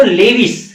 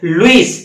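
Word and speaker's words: Lewis: Donate करता है, वो लेविस बेस कहलाता है। या यूं कह सकते हो, प्रोनाउंसिएशन में ऐसे भी बोल सकते हो, लुईस बेस।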